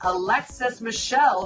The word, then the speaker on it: Michelle: Next up, we have Miss Alexis Michelle, whose last name rhymes with hell.